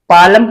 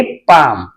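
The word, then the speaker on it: palm: म से लिखेंगे एम पालम पढ़ेंगे इसे नहीं यह हो जाएगा गलत एल इसमें साइलेंट रहेगा क्योंकि ए के तुरंत बाद एल है तो ऐसे शब्दों में एल साइलेंट रहेगा तो इसे हम पढ़ेंगे पाम क्या पढ़ेंगे पाम सी ए ए एल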